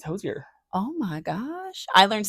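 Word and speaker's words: Hozier: josier I think have I been saying his name wrong for a decade because your doctor's name is hoser so I think your I thought it was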